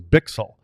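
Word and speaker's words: Bichsel: preseason we did and he actually told somebody that it was bixel but you pronounce it different it goes just say bixel that's what everybody calls me Bick or something like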